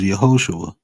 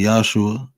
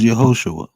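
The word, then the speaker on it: יהושע: There was a pronunciation was Yehoshua. People say Yahshua, but it was Yehoshua, right?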